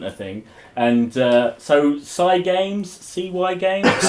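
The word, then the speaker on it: Cygames: thing and uh so cy games cy games like cy games i don't know how they want to it's pronounced psycho i don't know how they want to do it and i don't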